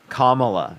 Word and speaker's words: Kamala: Kamala, yes. Kamala. It's really not difficult to say her name.